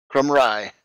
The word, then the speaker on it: Crumray: Let me just ask you, we pronounce your last name Crumray? Crumray. Crumray, okay. Sorry, Hey.